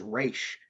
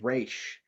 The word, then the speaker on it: Ra's: Ra's al Ghul in that movie, and I'm like, did you even do your fucking research? It is Raish. You pronounce it Raish.